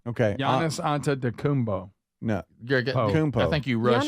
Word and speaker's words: Antetokounmpo: Giannis Antetokounmpo. Say it There it again. is. Say it again. Giannis Antetokounmpo. Okay. Giannis Antetokounmpo. No. I think you rushed. Giannis Antetokounmpo.